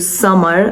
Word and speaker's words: Samar: It's pronounced closer to summer, like the season, but it's it doesn't mean summer like the season.